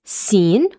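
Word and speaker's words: سين: First thing the pronunciation this is seen.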